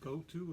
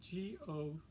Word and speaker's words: Gotoh: they use which is spelled g-o-t-o-h and I think it's uh is pronounced go to so it's the end